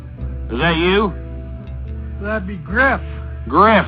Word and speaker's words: Griff: a Skype user named Griff, who Ghost initially mispronounces as Grife.